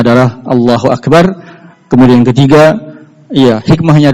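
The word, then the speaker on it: أكبر: Tetapi dia bacanya bukan akbar. Tapi di sini lihat kasrah iqbar.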